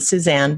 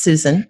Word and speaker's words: Suzan: isn't it sale it's Susan has a Z in it usually people try to pronounce the Suzanne but it is Susan yes I missed out